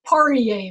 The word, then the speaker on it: Poirier: But it's Poirier, there's no T.